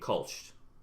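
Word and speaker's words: Kölsch: as cream ale and Kolsch. Kolsch? Did I get that right? Kolsch. Yeah, Kolsch.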